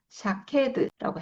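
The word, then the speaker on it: שָׁקֵד: 이게 쇼케드. 그러니까 앞에 살고 나무는 샤케드. 지켜보고 있다는 쇼케드. 뭔가 비슷하죠. 이게이 발음이.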